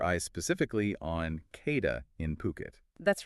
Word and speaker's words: Phuket: And just for clarity, that's pronounced Phuket, not Phuket, but also over in Koh Samui too.